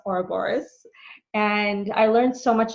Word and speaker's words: Ouroboros: She was there facilitating one of the levels, and I signed up for her program Ouroboros, which is pronounced Ouroboros.